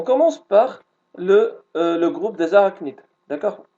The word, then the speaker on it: arachnide: On commence par le groupe des arachnides, d'accord? On le prononce arachnide, et ça s'écrit arachnide, d'accord?